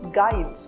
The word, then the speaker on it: guide: That letter U is silent when it comes after G and before a vowel in a word. For example, guide, guess, or guard.